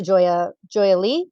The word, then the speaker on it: Joya Lee: And so she hunches down and she comes over to Joya Lee. Joya, Yeah. is that how you say it? Joy Lee, Lee first.